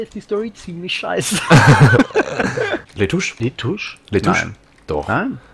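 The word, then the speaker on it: Lutece: Letouche. Letouche. L-U-T. Sprichst du Letouche. Ja? Und wo kommt das zweite U her? Nach dem T? Ist mir egal, das spricht man so aus.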